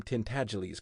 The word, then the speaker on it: Tintagles: Now, it was a sign of culture to be able to pronounce the name Tintagles correctly. It rhymes with sneeze and the accent is on the second syllable and the G is soft.